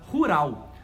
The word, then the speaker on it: rural: A gente tem exatamente a mesma palavra em português, só que em inglês a gente pronuncia de uma forma diferente, que é a palavra rural.